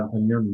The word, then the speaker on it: Antonioni: said you were you liked the work of Antonioni, the Italian director. Is that how I pronounce his Yeah. name? Sorry, I'm not sure if I Yeah. Antonioni, yeah.